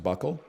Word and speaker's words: buccal: It's pronounced buckle.